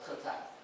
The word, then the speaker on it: Tezign: It's Chinese pronunciation, if you know. It's called Tezign.